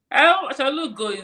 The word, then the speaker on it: Achalugo: I think that was the dinner I started calling her Achalugo. Am I saying it right? You're Igbo, me, I'm not Igbo. Achalugo. But Achalugo. Achalugo. Yes, Ah, Achalugo. what does it mean? Achalugo is almost like, I don't even know how to explain it.